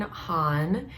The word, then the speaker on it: Han: Today I'm going to be doing a reaction request from my patron Han, and I just found out that his name is pronounced like Han Solo, and I think that is such a cool name.